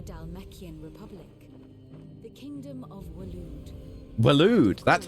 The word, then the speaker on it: Waloed: The Kingdom of Waloed. Waloed, that's how you pronounce that.